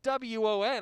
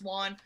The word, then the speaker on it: Won: you won the game my last name is pronounced juan we both thought each